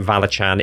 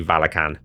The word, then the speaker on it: Valachan: And I'm sad to see that I was wrong about Valachan. It is actually Valakan. I talked about this in the beginning of my how I run Valakan video.